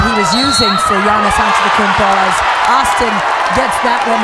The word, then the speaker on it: Antetokounmpo: Atentakupo. I said it right. Yes. You almost got it. Oh. Giannis Antetokounmpo.